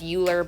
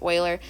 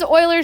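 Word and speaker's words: Euler: that's why you know it looks like it's uler but it's pronounced Oiler say Oiler number it's a number that shows up so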